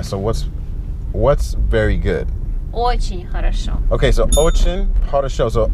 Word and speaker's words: Хорошо: So that's three syllables. Хорошо. Хорошо.